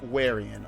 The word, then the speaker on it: Warian: The species is pronounced Warian, okay?